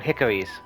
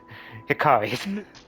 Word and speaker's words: Hikari: no we were doing hickories yeah wandering with a warrior would you like to repeat that Mason I realize exactly I realized I did not pronounce that right Hikari I was gonna say